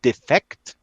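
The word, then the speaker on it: Defekt: new book out called defect or defect i pronounced the german way nino kipri next wednesday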